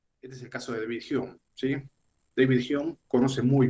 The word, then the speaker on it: David Hume: se escribe David Hume, es de origen escocés, ¿sí? Por eso se pronuncia así, David Hume, porque en Escocia se habla en inglés.